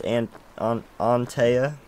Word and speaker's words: Antea: But I believe it's Antea. That's how you pronounce it.